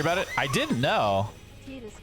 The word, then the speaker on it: Titus: Titus kinda rhymes with Jesus, I just realized.